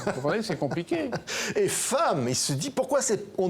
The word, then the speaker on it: femme: C'est-à-dire qu'il apprend à lire et à écrire, et l'instituteur lui dit, un jour, comme à ses camarades, F-E-2-M-E se prononce femme.